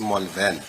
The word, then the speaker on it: Malvern: Because the What street is is the named pronunciation? after. Can I spell this? M-A, Yeah, fine. so, Malvern. so it's Malvern.